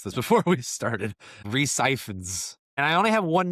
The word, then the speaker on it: Rhys Ifans: Kirk Connors, played by, and Tanner and I Googled how to pronounce this before we started, Rhys Ifans.